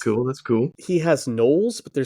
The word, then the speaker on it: gnoll: his books that's cool that's cool he has nolles but they're spelled NE o or sorry g